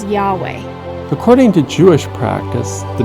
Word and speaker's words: Yahweh: create the lord's name the lord's name is pronounced by most biblical scholars and hebrew linguists as yahweh according to jewish practice